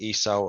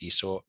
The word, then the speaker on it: Esau: In Genesis 25, Abraham dies, Jacob and Esau are born, and Esau sells his birthright to Jacob.